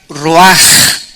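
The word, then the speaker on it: רוח: Roach que se pronuncia Roach la ch en el hebreo se pronuncia como jota y que es la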